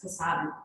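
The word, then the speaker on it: Casaubon: Because I've read it so many times, even now I mispronounce his name, it's Casablanca.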